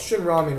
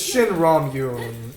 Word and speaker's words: Shin Ramyun: Well, it's Shin Ramyun because it's Korean and they pronounce it a bit differently. It's like the same but different.